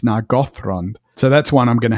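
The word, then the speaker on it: Nargothrond: was at Westmoot that I heard it said naggo and I thought, you know what, that's actually the correct stress. I've always said nagatron. Yeah, I had too. But really because of the thr. Now the th is not itself enough because remember the th is actually just one sound, right? You're right. But because it's a th and then an r, it's nagron.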